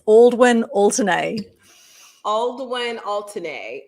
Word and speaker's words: Aldwyn Altuney: way you say it by the way it's aldwin alternae all the way and alternate okay and the